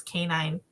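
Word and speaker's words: Canion: her last name is canine but not spelled like a dog just pronounced like it um and um it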